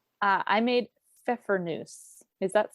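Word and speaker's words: Pfeffernüsse: chose, and again, this could be an interesting pronunciation. I made Pfeffernuse. Does that sound right, Heather? It sounds right to me. That's how I would say it. So Pfeffernuse it's a cookie I remember having as a kid.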